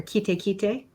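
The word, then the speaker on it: Kaiate: No, Kite Falls or Kite in Maori. That's the pronunciation. I got corrected.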